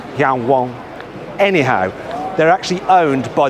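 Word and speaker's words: Yangwang: is another new brand I'm reading it as Yang Wang and any car brand with the name Wang in the title gets my vote I think it's actually pronounced Yan Wang anyhow they're actually owned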